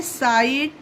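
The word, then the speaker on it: sight: एस आई जी एच टी ये होता है साइट।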